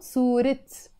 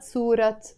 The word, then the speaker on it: صورة: this T sound, and instead of saying سورة, you say سورات in standard Arabic, but in Lebanese Arabic, this A kind of becomes a I, it sound, سورت. Always, سورت, not سورات.